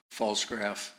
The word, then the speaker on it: Pfalzgraf: Falsegraph. My last name is spelled P F A L Z G R A F.